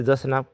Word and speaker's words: জোসনা: আমরা শুনতে পাই আবার জোসনা অর্থাৎ এটা কিন্তু একটু প্রাকৃত শব্দ সঠিক উচ্চারণ হবে জোসনা কবি কিন্তু প্রাকৃত শব্দই ব্যবহার করেছেন জোসনা যখন খন জসনা